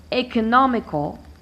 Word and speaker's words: economical: one two three stress economical I start by dividing e oh no me cop and with cop here I count one two three four five I stress the third syllable counting from the end it's here so economical